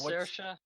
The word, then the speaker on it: Saoirse: Her name is Saoirse. Saoirse. Okay. The way it's spelled is like throwing me off.